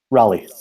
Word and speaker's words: Raleigh: Raleigh.